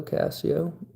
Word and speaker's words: Cascio: That's how you pronounce it, though, Cassio.